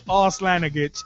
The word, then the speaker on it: Arslanagic: I rib you not, his name is Arslanagic. It's spelled A-R-S-L-A-N-A-G-I-C.